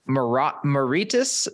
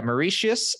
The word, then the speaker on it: Mauritius: reunion in the Indian Ocean I'm sure I butchered that but it spelled reunion sure Reunion Island that sounds about right uh between moritis yeah Mauritius and Madagascar so that Indian Ocean which I